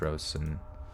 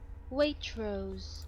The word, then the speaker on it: Waitrose: how to say what Rowson that's not how you say my favorite supermarket it's not how you say it Waitrose what the [ __